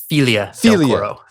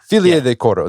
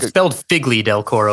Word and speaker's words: Figlie del Coro: It's technically pronounced Filia del Coro. Filia del Coro. This was like Figlie del Coro, but it's pronounced Filia. It's Italian.